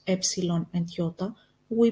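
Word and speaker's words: ιώτα: which means to want iota Yota which we pronounced again as e like in the name of the country Italia Kappa Kappa which we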